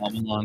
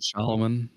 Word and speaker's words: Shyamalan: love to do that shamalan not shoman shoman is not right shamalan shamalan shamalan shamalan